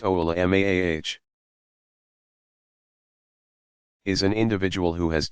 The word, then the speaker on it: ulama: commonly used singular of voluma pronounced oh allah mah is an individual who